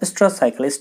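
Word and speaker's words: oestrus: Next question क्या रहा है क्या, which one does not show स्ट्रस cycle, या ऑस्ट्रस या स्ट्रस जो भी कहिए, ऐसे पढ़ा जाता है, स्ट्रस ओ साइलेंट होकर स्ट्रस पढ़ा जाता है, स्ट्रस साइकिल।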